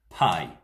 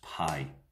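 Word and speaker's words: פ: up this section is pay normally spelled p e if you put it in english but it's pronounced pay at least that's my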